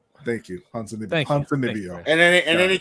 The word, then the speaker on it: Ponzinibbio: God, I cannot pronounce that. Oh, I got you. Santiago Ponzinibbio. Thank you, Ponzinibbio.